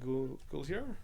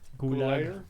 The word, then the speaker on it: Gulager: The director's name is John Gulager. Gulager.